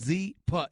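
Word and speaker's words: Zyppah: go to Z for calm right now it's pronounced Z but it's spelled zy p PAH and it's easy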